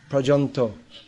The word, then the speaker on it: paryanta: Paryanta is a Sanskrit word, commonly used in Bengali, pronounced Prajanto.